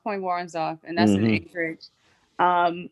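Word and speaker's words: Point Woronzof: break point point yeah i believe that's how it's pronounced point warren's off and that's an anchorage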